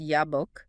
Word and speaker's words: Jabbok: There is an intentional phonetic pun between the name of the river Jabbok, pronounced Yabbok, the name Jacob, pronounced Yacob, and the Hebrew word for the wrestling itself, Yavak.